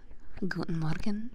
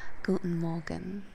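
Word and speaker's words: guten Morgen: in Germany ah good morgan oh sorry hold hold on hold on uh my German mod taught me to pronounce it better than that let me try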